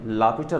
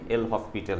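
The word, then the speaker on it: L'Hôpital: सबसे पहले आता है एल हॉस्पिटल रूल, जिसको हम लोग एक्चुअल में लापिटल रूल कहते हैं, लेकिन उसकी इंग्लिश जो है स्पेलिंग उससे लगता है कि ये एल हॉस्पिटल है।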